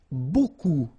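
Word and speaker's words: beaucoup: strange B like that remember you don't pronounce the final P okay and then you've get this combination of vowels a u and you get the sound o so technically it's B okay so it's not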